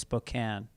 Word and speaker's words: Spokane: i i send you i say spokane like a lot of people but i found out it's now it's spokane um i'm looking at